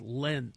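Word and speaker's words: Lindt: so I'm learning that you don't pronounce it lint it's lent lead lead Le lead uh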